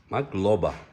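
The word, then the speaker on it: მადლობა: Magroba? Madloba.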